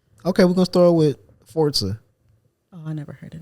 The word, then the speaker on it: Forza: So Forza, Forza? Forza. I get it. Some people say Forza, but it's Italian. Oh. And it's actually pronounced Forza, like pizza.